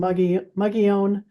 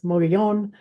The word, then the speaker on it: Mogollon: background about mugon uh kind of the local pronunciation is M Mion uh sometimes the more Spanish pronunciation is Mion uh so either one of those works and this is a